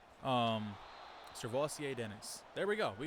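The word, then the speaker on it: Sirvocea: According to the internet and a story I saw, his name is Servosia. So he is Servosia Dennis. Servosia, I think it actually said. Servosia Dennis.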